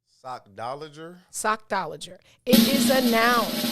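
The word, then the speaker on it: sockdolager: right cause i'm like it's the first part of sock last part is lager s-o-c-k-d-o-l-a-g-e-r it is pronounced sock dollager sock dollager sochtologer it is a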